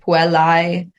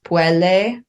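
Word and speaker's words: puellae: And then you have so the AE, which is like puelai, right, becomes puelle.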